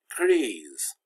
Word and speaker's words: gris: And for gris, the S is silent, but gris, the S